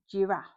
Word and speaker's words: giraffe: in the word game, or we can pronounce it as a soft j sound bit like a j j. Like in the word giraffe.